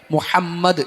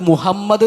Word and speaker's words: മുഹമ്മദ്: നമ്മൾ അത് മുഹമ്മദ് എന്നുള്ളത് മുഹമ്മദ് എന്നൊക്കെ പറയുക അത് ഉച്ചാരണത്തിൽ നമ്മൾ ശ്രദ്ധിക്കേണ്ട ഒരു കാര്യമാണ് മുഹമ്മദ് എന്ന് തന്നെ ഹ അത് മുഹമ്മദ് എന്ന് ആവൽ പാടില്ല അത് പ്രത്യേകം ശ്രദ്ധിക്കുക ഇൻഷാ അള്ളാ